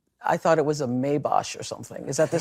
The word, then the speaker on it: Maybach: It's pronounced Maybach. And I, when someone is this wealthy, you start to second guess like your own knowledge. Like maybe it is Maybosh or however she said it.